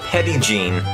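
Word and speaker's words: Petit Jean: am currently driving near petite gene state park from my understanding it is not pronounced on the french way and most locals actually call it pedigene i did visit the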